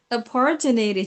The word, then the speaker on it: opportunity: Okay, it's opportunity. Jadi jangan bacanya opor ya, kayak opor ayam nanti.